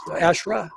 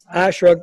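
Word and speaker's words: ASHRAE: by the acronym of ASHRA, I guess, ASHRA is how they say it.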